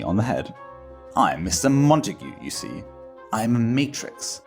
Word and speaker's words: Montague: heard of before Mr Montague said well like what then Mr montagu Matas God is pronounced Montague but then I wouldn't expect